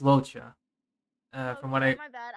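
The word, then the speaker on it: Luocha: my gosh, I went loca. Yeah, I think it's pronounced Locha.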